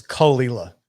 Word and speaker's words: Cahuilla: Me and Allison we actually looked up the pronunciation. It's Cahuilla is how you pronounce it.